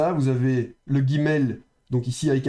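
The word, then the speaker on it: אָב: Donc ici, on a lef avec le camet et donc ça se prononcera à donc le bête ici est fricatif spirant, il y a pas de dag et donc ça c'est ave av et c'est paire.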